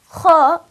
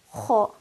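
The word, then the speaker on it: حَ: the first letter haw ha when pronounced with Fatah will be pronounced as haw I will not pronounce this letter as ha stretching my mouth with horizontally and giving it a soft light quality that would be incorrect so I have to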